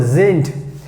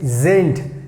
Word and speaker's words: sind: So here you have to keep in mind, whenever we have D at the end, so we have to pronounce like T. So sind. Then we have seid, seid. Then we have again sind, sind.